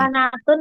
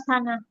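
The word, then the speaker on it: سنة: Sanatun apa sanah? Sanah aja dibaca anu disingkat. Maksudnya tulisannya tulisannya sanatun bacanya sanah ya.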